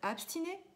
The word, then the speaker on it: abstine: en latin sustine et abstine. Ça s'écrit S-U-S-T-I-N-E, sustine, S-U-S-T-I-N-E, et abstine, comme abstinence, A-B-S-T-I-N-E.